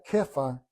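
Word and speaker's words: כיפא: Él se llamaba Simón, en hebreo es Shimón, pero Jesús le puso Kefa, que significa piedra. El nombre de Pedro en griego es piedra y se pronuncia Kefa en arameo.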